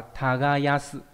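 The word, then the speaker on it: 耕す: Nó đọc là tagayasu.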